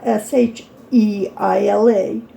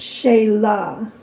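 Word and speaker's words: Shelah: My name is Sheila. It is spelled S H E L A H. Not S E. Not S H E I L A. Okay. And it's not really Sheila, it's Shayla.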